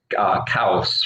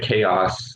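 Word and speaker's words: Kaos: taviani brothers um called kaus right chaos uh if you pronounce it with a bad english accent right um and it's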